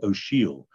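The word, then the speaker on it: O'Siadhail: great contemporary irish poet michael o'sheal o apostrophe s-i-a-d-h-a-i-l pronounced she'll he's a friend of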